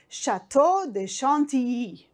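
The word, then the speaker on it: Château de Chantilly: We will travel to a castle called Chateau de Chantilly. This is how you pronounce it in French.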